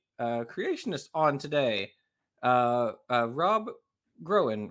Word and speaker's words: Groen: on today uh Rob groan right did I pronounce yes that's corre cool well welcome welcome